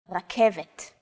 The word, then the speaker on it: רכבת: Chances are your pronunciation was pretty spot on. The K, V, and T sounds are practically identical to English. It's only the R that's a little different. Focus on this first letter. It's often written as an R, but don't be fooled. This letter is pronounced differently than an English R. It's pronounced at the back of the throat instead of forward in the mouth.